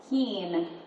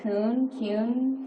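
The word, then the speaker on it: Kuehn: what's your last name Keen spelled k-u-e-h-n but like you look at it's like cune when when I don't know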